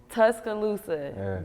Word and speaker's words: Tuscaloosa: feeling i'm feeling good now i tried to pronounce the city's name the alabama city that you're from is it okay tuscaloosa there it is okay so you got to